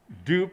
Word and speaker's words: strdup: strdup, how should I pronounce it first of all? Dupe, because it stands for duplication.